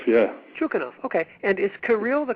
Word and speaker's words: Kirill: And is Kirill the correct pronunciation of your first name?